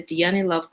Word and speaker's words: Dhyani: Let me see if I could say it right. let's see, yes. Her Instagram is Dhyani Love. That's DHYANI Love. DHYANILOVE. Dhyani Love.